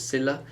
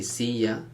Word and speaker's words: silla: elicit it's not a love sound it's not silla it can be siya okay that's the three ways it's pronounced in the spanish-speaking world but never silla